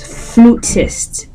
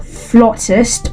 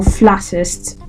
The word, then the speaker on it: flautist: or flst flst now it's spelled f l a u t i s t and if you look at the word there's this temptation to just pronounce it as flest right but no it's pronounced flest or flattest Americans will say flst Brits will say flst